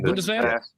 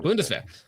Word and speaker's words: Bundeswehr: Bundeswehr? Yeah. Bundeswehr recently selected the CZ P10F as their new standard issue sidearm after completion.